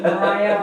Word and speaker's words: Maria Street: Mariah. Mariah. I hear Maria. Yeah. Because they synagogues there, I think, that's Mariah. Oh, Mariah. Yeah, they call it really is Mariah. Mariah? Yeah. But it's spelled Maria?